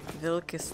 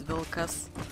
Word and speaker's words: Vilkas: guess so it's interesting how they pronounce the a no they say very short league how how should they put it now vilkas they say although it is vilcas so if you're interested